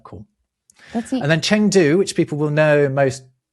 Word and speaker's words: Chengdu: I say Chengdu, I think it's pronounced Chengdu. When you see eng in Mandarin, it's actually an ung sound.